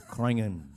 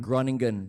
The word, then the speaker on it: Groningen: right now it's running it's krangan he pronounced it right this time because we've all pronounced it wrong for the longest time groningen but it's okay the brits pronounce it as groningen too and they get so